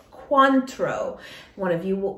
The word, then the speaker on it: Cointreau: con control control coin i say it's queen true but it's cointreau cuantro one of you said